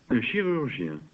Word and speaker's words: chirurgien: Un chirurgien. This is a surgeon. Listen to the pronunciation again.